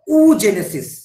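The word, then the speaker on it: oogenesis: sell উৎপাদিত হয়ে থাকে তখন তাকে আমরা বলবো উজেনেসিস ঠিক আছে প্রোনাউন্সিয়েশনটা একটু মাথায় রাখবে ডাবল ও একচুয়াল প্রোনাউন্সিয়েশনে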